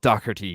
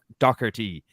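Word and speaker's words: Docherty: guy Greg he's he's this guy is actually is called Doherty because it's spelled d-o-c-h well Greg dockerty he's Scottish born he plays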